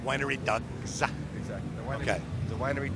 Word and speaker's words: Winery Dogs: First of all, you have to say it like that. Winery dogs.